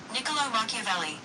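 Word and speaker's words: Niccolò Machiavelli: Um let me make sure I'm pronouncing this man's name right. Nicolo Makaveli.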